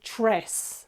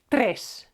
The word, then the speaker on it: tres: But just so you know, be careful not to say tres, okay? It's tres, okay? It's 4 different sounds. T, r, e, s. Put together, tres, okay? And also, e is short. Don't say trace, because a friend of